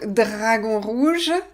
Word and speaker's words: Dragon Rouge: Donc, rendez-vous au Dragon Rouge demain à 19h30. Ouais, prononcez bien les R, hein, français. Dragon Rouge.